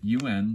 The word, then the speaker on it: Un: It's the equivalent of the English letter A, but it's spelled UN just like this and makes the un sound.